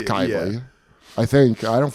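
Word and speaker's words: Cybele: It's spelled Sibeli, but it's Kybi.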